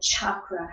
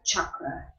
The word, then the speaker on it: chakra: just written that has C is always like the cha-cha so chakra has a ChaCha's down it's never like an SH or a K so it's a chakra chaturanga Lee is always